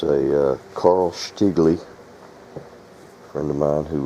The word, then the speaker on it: Carl Stiegele: i'm starting a new shotgun it's a uh carl stigley a friend of mine who was spent a lot of time in germany said that's how you pronounce that carl stigley he was from munich or as they pronounce